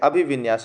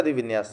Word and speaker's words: अभिविन्यास: अभिविन्यास है, अधिविन्यास नहीं है।